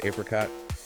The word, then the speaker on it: apricot: Apricot, caramel. Yeah, apricot versus apricot.